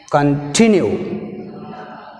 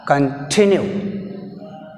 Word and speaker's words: continue: Con is a prefix, weak prefix. That's why we have stress on the second syllable, tinu.